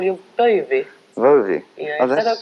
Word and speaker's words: Bowie: You pronounced it correctly. I did, Bowie, yeah.